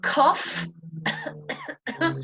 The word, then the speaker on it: cough: And finally, ough can be pronounced like the sound off, as in cough, cough, and trough.